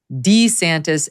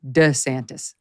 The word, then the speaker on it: DeSantis: years and even recently it goes in between D santis and DeSantis now I have sympathy